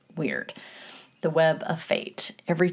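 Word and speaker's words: wyrd: And the Kelts held a really deep reference for uh what they called uh it's W Y RD which is pronounced as I understand it weird.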